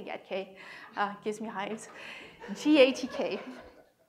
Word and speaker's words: GATK: to talk about ghk genome analysis toolkit not pronounced get Kate please don't say yet que gives me hives gatk it's a thing it's a toolkit that is